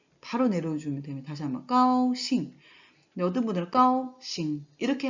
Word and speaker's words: 高兴: 그래서 잉으로 발음을 하면 되기 때문에 싱으로 발음하면 되는데 사성이죠. 그래서 싱, 싱, 싱. 네, 그래서 같이 결합되면 까오싱, 까오싱.